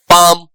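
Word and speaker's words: palm: जैसे काम जैसे चौक, जैसे वॉक, जैसे आर्म, है ना? पाम इन सारे वर्ड्स में एल जो है वो साइलेंट होता है।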